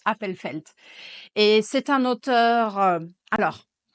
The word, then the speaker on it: Appelfeld: Je pense que c'est comme ça qu'on prononce, Appelfeld.